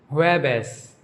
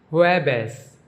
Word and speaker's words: jueves: Thursday is pronounced jueves, jueves. J is pronounced like H and V is pronounced like B in Spanish.